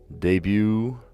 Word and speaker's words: debut: so off the bat I see a bunch of words that have a silent te in them like rapor debut tarot monster all of these have well I guess psycho has a silent p in it but that